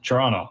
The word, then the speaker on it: Toronto: Yeah, it's pronounced Toronto with like a CHURRNO, something like that, Toronto.